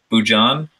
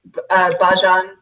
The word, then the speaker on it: Bhajan: Bujan, I think. Is that what you said? Yeah, it's said a couple different ways. Bhajan.